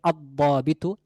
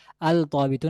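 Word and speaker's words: الضابط: নিয়ে আসতে হবে, হবে আদ-দাবিতু, আল দাবিতু না আদ দাবিতু, এখানে লামের উচ্চারণ আসবে না, বরং এই দোয়াদের সাথে লামটি মিশে যাবে, হবে আদ দাবিতু অফিসারটি বা একজন নির্দিষ্ট অফিসার।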